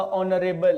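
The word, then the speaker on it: honorable: ऑनर है, फिर आपका ऑनरेबल है। इन सारे शब्दों में समझो ये एच है ही नहीं, ये साइलेंट होता है, एच यहाँ पे साइलेंट होता है बेटा, ठीक है।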